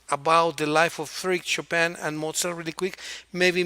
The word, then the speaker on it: Chopin: Just very quickly, the biography of Frédéric Chopin and the biography of Wolfgang Amadeus Mozart, please, really quick. Japan?